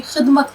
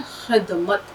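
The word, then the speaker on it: ख़िदमत: मैं तो सबकी खिदमत करूंगा। अब देखिए लफ्ज होता है खिदमत, खे की आवाज, खिदमत, खे दाल ज़ेर खिद, मीम पे जबर मत, खिदमत।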